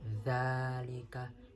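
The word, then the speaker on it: ذلك: Seharusnya dalam pengucapan harokat fathah yakni harus dibuka lisan kita, yang mana kita tadi baca dzalika, seharusnya dibuka dzalika dzalika dzalika.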